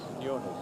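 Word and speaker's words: Quiñones: How do you pronounce that? Quinones? Quinones, yeah. That's what White says.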